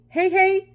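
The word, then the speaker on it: Heihei: can show you he is it he he hey hey hi how do you say it it's h-e-i-h-e-i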